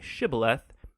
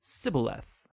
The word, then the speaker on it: shibboleth: It turned out that the Ephraimites had grown up pronouncing that word differently, so instead of saying shibboleth, they would say sibboleth.